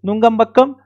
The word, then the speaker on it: Nungambakkam: The venue will be Nungambakkam. I think the pronunciation is correct. Of course, Nungambakkam. So it will be Tarun Sir Academy, Nungambakkam.